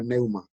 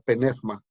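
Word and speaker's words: πνεῦμα: palabra espíritu viene de la palabra griega neuma o penefma, dependiendo de cómo quieran pronunciarlo, ¿verdad?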